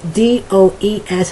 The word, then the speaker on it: does: doing it phonetically and the d o e s is pronounced more like uh d a z does okay so the the